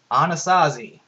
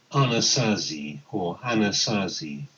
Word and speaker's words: Anasazi: You have no idea how to pronounce it. You hit the submit. Anasazi. So I told me how to pronounce it in a nice British accent. Let's listen to him again. Anasazi.